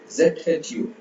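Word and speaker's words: 住: சு சு சு ZHU. ZHU அப்படின்னா TCHU. சு சு சு. சோ நாக்க மடக்கி ப்ரொனவுன்ஸ் பண்ணணும். சு சு சு சு சு சு.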